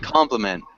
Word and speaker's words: compliment: deadly oh here get compliments compliments yes it is the intonation compliment and then engine we emphasize the first syllable as well engine engine hello